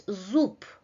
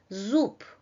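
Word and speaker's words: зуб: We write zub, but this voiced consonant loses its quality and is substituted by a voiceless consonant, right? That's why we pronounce zup, zup, Zub.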